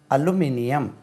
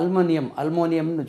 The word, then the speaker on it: aluminium: உச்சரிப்பு எப்படி? அலுமினியம். ALUMINIUM அலுமினியம். நம்ம அல்மோனியம்னு சொல்லி அலுமினியம். அலுமினியம்.